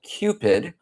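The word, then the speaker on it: CPID: If you're unfamiliar with the framework, the framework is called Cupid. That's C P I D. The U is silent.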